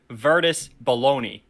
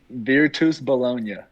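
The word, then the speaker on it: Virtus Bologna: with your current basketball team in italy uh it's spelled to the american virtus baloney like like as in like the deli meat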